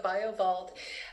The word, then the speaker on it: BioVault: also have biobolt and did i pronounce that correctly yeah yeah it's called the bioviva biovault we're excited about this